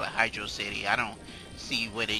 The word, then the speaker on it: Hydrocity: going to hydrocity and some people pronounce the hydra city for summary I'll never pronounce the hydro city I don't even make sense I called it hydro city so that's what it's gonna be hydro city and I